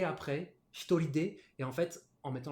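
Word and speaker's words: 一人: quatre personnes, cinq personnes, on va avoir une particularité de prononciation sur les deux premiers. En fait, on va lire tout ça en purement japonais. Ce sera hitori et futari.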